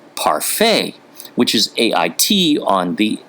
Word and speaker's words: parfait: Well, the French may not pronounce the T on the end of words like parfait, but they still put it there.